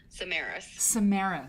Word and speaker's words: Samaras: yeah the pronunciation for it's Lucas Samaras Samaras like Good Samaritan Lucas Good Samaritan samaris okay excellent thank you